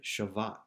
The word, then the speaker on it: shavat: The typical word is something that we would pronounce like nuach, but the word here is instead shavat.